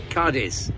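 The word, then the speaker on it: Cádiz: before dawn today in cadiz and the locals pronounce it cardis rather sounded like cardiff well the sun has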